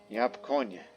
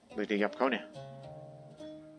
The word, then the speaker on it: Yapkoññe: I don't know, because I tend to pronounce the end with that accent mark up there as if you were to pronounce something like El Niño or La Niña, you know, in Spanish.